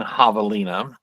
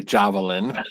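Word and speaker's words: Javalina: Let's let's talk about let's talk about our lead character uh Hollis Halloween Havalina. It's spelled J A V. People are going to say Javelin, but it's Havalina. Welcome to Arizona.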